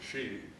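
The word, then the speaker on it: 四: next pronounced the next letter four is she which is considered very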